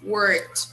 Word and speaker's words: worked: very nice my sister worked okay always observe people the pronunciation of the simple past when it's regular verb we usually use a sound that is a little different from the way we spell okay so here in